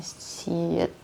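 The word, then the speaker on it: 시옷: 7 ini kayak orang, ini bacanya S atau mereka bilangnya siet ya.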